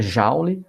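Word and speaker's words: joule: a letra J maiúscula a leitura Jauli mas se escreve Jolie tá Então nesse a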